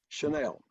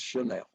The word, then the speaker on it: Channel: Chanel. I know it's spelled Channel, but he says it's Chanel.